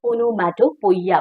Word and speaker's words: onomatopoeia: अगर हम spelling wise जाए तो it is being pronounced just like onomatopoeia, but it is actually onomatopoeia. Okay, onomatopoeia.